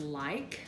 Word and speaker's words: like: I know one of the reading passages had the word like, and that has the long I sound and a silent E at the end.